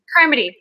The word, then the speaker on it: Carmody: Carmody.